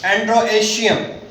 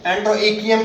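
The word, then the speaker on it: androecium: एंड्रोएशियम, एंड्रोएकियम कह लें, जिस तरह मर्जी प्रोनाउंस कर लें, ठीक है।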